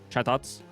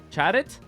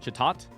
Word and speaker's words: Chatot: Imagine pronouncing parrot like that. Chat it?